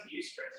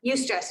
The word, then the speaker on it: eustress: not one of them that's pronounced eustress right eustress yes use stress distress and use stress sources of stress are